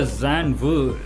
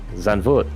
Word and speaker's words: Zandvoort: for Zandvoort. How do you pronounce it correctly, man? Zandvoort.